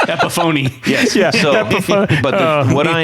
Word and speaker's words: Epiphone: Is it not pronounced Epiphany? It is not a pronounced Epiphany. Epiphony.